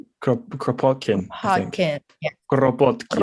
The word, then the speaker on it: Kropotkin: And I'm gonna butcher the names, but you have to do a Russian accent. Kropotkin. Kropotkin, I think.